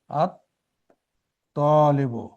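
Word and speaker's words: الطَّالِبُ: আলিফ লাম নিয়ে আসবো আত তালিবু এখানে এখানে লামটা উচ্চারিত হচ্ছে না। সাইলেন্ট থেকে যাচ্ছে।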